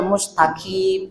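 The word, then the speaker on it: مستقيم: Jadi jangan membaca ihdinas siratal mustaqim, itu maka. Tapi harusnya mustaqim.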